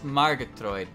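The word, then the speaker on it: Margatroid: Alice Margatroyd. Margatroyd. Well, they pronounced it like that.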